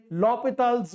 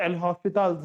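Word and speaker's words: L'Hôpital: remember you cannot apply lopital's rule that is LH rule or L Hospital's rule this is how students pronounce it in cbse exam you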